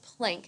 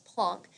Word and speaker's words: Planck: his name is max plunk he is German and that's why his last name isn't pronounced planck its plunk he came up with